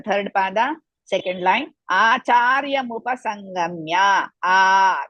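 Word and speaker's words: मुपसङ्गम्य: Acharya mupasangamya. Dirgha, big, second one, not the first word. Second, charya, cha is dirgha, ra is half, ya Rasva, mupasangamya.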